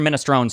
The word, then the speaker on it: minestrone: And the guy says, "Oh yeah, it's all the pronunciations are correct." And then he handed it to me and he said, "Here's your minestrone soup."